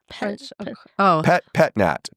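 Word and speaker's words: Pét-Nat: Pet Nat, PETNAT.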